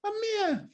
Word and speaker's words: Ahmir: I love the way you say my name, Ahmir.